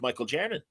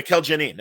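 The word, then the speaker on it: Mikel Janín: that you're doing with Michael Janin. Oh, he's awesome. Yeah, Mikkel, actually. Mikkel's amazing. He's excuse me, Mikkel Janin. Yes, I want to say it right.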